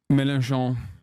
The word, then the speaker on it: Mélenchon: Mélenchon.